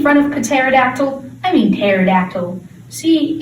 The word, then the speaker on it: pterodactyl: of pterodactyl i mean pterodactyl see it's confusing it's also great without a p in the front i am not a